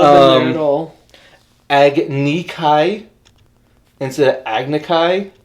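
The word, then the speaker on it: Agni Kai: Agniki. And I'm like, what is that? No. Oh yeah, they said Agniki, not Kai, which I feel like Kai is the correct pronunciation. Right, Agnikai is from the show at least.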